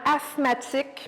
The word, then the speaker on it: asthmatique: Bien, effectivement, asthmatique, c'était bien prononcé, mais il y a des lettres muettes, là, le TH là, qui est muet. Donc, on prononce vraiment asthmatique, même si on écrit A-S-T-H-M.